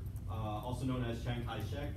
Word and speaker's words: Chiang Kai-shek: uh also known as chiang kai-shek which i guess is a cantonese way of pronouncing his name um this which is